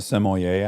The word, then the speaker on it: sommelier: Do you become a sommelier after that?